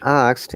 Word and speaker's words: asked: should be pronounced correctly so in asked it is single syllable ask it when you say ask it it becomes double cell ask and add similarly